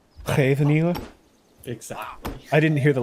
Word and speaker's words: Scheveningen: I've never once heard someone that isn't Dutch pronounce Scheveningen correctly. Scheveningen.